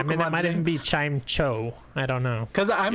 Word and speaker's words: Chimecho: like I keep thinking of how there's Chimchar, and then if you say chime, you lose the E, so shouldn't it be Chimeco?